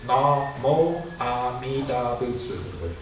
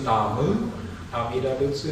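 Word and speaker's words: 南無阿弥陀仏: There's really no right way to say it. It used to be, today it's Namo Amida Butsu. When I was young, it was Namu Amida Butsu. Higashi Hongwanji still uses Namu.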